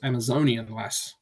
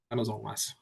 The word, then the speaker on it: Amazonian Lass: at around $13 uh good pronunciation because Amazonian lass not Amazon lass yep Race Six is